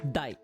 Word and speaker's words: 代: So, this is usually just like pronounced as dai.